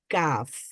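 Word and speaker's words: ك: সামনে এসে heart প্যালেটে touch করে তখন আমরা উচ্চারণ করতে পারি কাফ তারপরে যখন জিহ্বার মধ্যবর্তী জায়গাতে এসে আমরা উপরের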